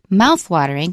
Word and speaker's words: mouthwatering: might say mouthwatering uh-uh the stress is on the first syllable mouthwatering you you over the